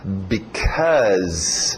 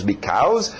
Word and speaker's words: because: Ok, o som do because. Nada de because. Because, verbo to be, ser, cows, vacas. Sejam vacas, because. Não, because. É importante porque depois em pronúncia rápida nós vamos ver o be sumir. E as pessoas geralmente falam só cause isso, cause aquilo, cause.